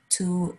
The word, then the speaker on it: to: Before consonants, to is generally pronounced ta, like the first sound in the word ta. Before vowels, to is generally pronounced to, like the word to.